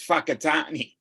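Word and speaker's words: Whakatāne: i n e now the wh is pronounced as an F the w inner yeah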